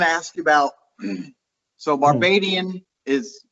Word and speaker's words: Barbadian: So Barbadian is how you pronounce that.